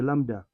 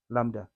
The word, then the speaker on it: lambda: must write this is B is silent so we say Lambda that's your wavelength B is silent Lambda wavelength is measured in